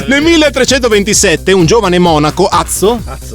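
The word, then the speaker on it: Adso: 1327 un giovane Monaco Azzo azo Come scritto adzo ma si legge azzo azzo azzo azzo info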